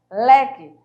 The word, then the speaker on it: leque: Leque. Vejam que não tem acentuação. Não tem acentuação. Mas na leitura dessa palavra, automaticamente você já vai sentir que a paroxítona, ela tem que ser pronunciada forte, ó.